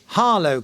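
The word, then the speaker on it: Harlow: trip to a famous castle which is called harow Castle you spell that h a r l o w could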